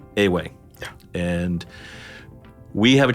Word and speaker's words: Ewe: uh so we pronoun it is spelled ewe yeah but it's uh a way yeah and we have